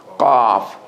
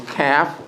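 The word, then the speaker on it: ق: oh everyone say that also the cough has a click in the back of the throat at the time you say it's cough like something dropped in the back of your throat oh make something click in the back of your throat at the back of the tongue when you pronounce it as opposed to calf no click off has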